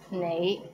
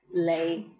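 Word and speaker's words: 你: is the word you the right way to pronounce it is nay but in hong kong many people pronounce it as lei how was it pretty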